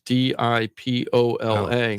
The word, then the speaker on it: DiPola: out of my name, so it was D-I-P-O-L-A. DiPolo. DiPola. Oh, so DiPola. So people would pronounce my name right.